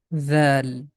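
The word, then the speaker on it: ذال: The name of this letter is Dhal. Very soft sound. Tip of tongue is touching with the edges of frontal teeth, and the small portion of the tip comes out from the mouth.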